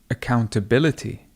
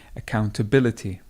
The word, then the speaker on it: accountability: So the stress actually moves from here more over here. Listen again. Do you have much accountability? Ability. So remember we had accountant. Accountant, the stress was here, but the stress moves and you would say accountability.